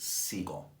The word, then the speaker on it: Segal: It's actually, my last name is pronounced Seagull. I sincerely doubt that. Yes, it is. My family pronounces the last name Seagull, like the bird, Seagull.